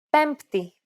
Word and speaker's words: Πέμπτη: For example, the combination of M and P in Greek is never pronounced as B when followed by a T sound. Every letter in this case is pronounced separately.